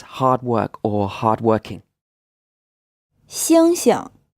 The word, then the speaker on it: 星星: 星星 These 2 syllables are the same. The first one is in the 1st tone, and the second one is unstressed.